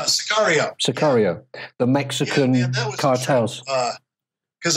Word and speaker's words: Sicario: And also I think the most recent one was, maybe my pronunciation is wrong here, Matt. Sicario? Sicario.